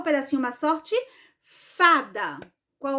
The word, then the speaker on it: fada: falei da sorte Ufa então esta palavra fada ela também é paroxítona por quê Porque a sílaba mais forte o a sílaba tônica da palavra fada é justamente a penúltima sílaba não é a última que a última e da então é a penúltima certo